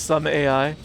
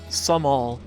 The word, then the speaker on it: Sohm Al: So, I read that as some AI. It's actually pronounced as like uh some all.